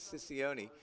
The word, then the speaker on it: Siccioni: I don't think I've mispronounced any name in Thunderbirds history more consistently than Ryan's, but it is Siccioni.